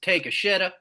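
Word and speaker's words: Takeshita: is Alabama man here I think his name is pronounced take a shitta if I remember correct it's all right not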